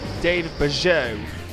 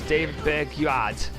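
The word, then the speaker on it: David Bergeaud: David Bergeau. I thought it was David Berguad, but it's David Bergeau, considering it's but it is French though, so I think I might have pronounced it wrong.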